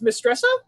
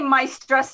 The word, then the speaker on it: Maistresse: the pronunciation it's it's miss dressa i like to say my stress uh it's it's 14th century french but it's also my